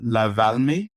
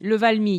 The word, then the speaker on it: Le Valmy: Every year we go to this one restaurant called La Valmy. Did I pronounce that right? Le Valmy, yeah.